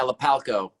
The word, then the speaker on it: Lapalco: Is it Lapalco? Yeah, Lapalco. Lapalco. I've been saying it right.